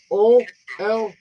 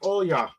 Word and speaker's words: Olga: Her name is Olya. That's how she pronounced her name, Oya. But it was Olga, kind of like, but it wasn't. So it was spelled Olga, Olga, but it's pronounced Olya.